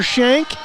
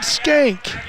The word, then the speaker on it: Shank: Last night we had a kid named Hunter Shank. They pronounced it Skank.